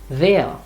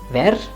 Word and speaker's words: wer: Or in the question, it would be wer, not wer.